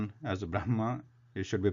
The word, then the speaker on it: Brahma: different so the pronunciation the correct pronunciation is how it is written Brahma rather we should say it should be written how it is pronounced it is Brahma only the Nevada Namaskar